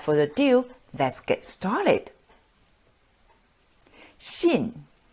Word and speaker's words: 信: ado let's get started shin shin fourth tone the tone goes down shin to believe the